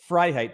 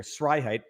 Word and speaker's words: Freiheit: F and S on the interwebs and on telephones sound quite similar. So when I say my name is Freiheit, people often hear Sreiheit.